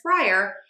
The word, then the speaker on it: fryer: We have 2 syllables here, FRYER. Let's start with the fry syllable. That is our stressed syllable. Stressed syllables are higher in pitch, louder, and have a longer vowel. Most of my students miss the longer vowel piece, so focus on that longer vowel.